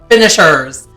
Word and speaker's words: Finish Her: Wendy's team is called Team Finish Her. Finishers. Like, but it's spelled like finish her.